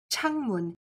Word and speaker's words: 창문: Altogether, they make a word changmun, which means window.